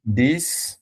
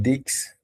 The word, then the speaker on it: dix: And this, instead of dix, we are going to call it as this These. because Okay. it, yes, X is at the end and it sounds as S.